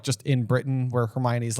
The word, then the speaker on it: Hermione: So she is sounding it out syllable by syllable, not for Crumb, but for you, the reader. For you, the reader. Hermione. Yeah. Hermione. Yep. Yes. And just for fun record keeping, we used to call her Hermoine.